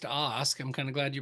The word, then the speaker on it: Ask: thought that was they had you list as Ask. Is there something else that I'm missing on that? Well, and it's actually pronounced OSK.